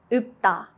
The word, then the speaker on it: 읊다: 읊다, to recite. Only the 피읍 sound is used.